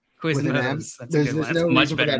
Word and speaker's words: Quiznos: My mom calls Quiznos Quizmos. Quiznos.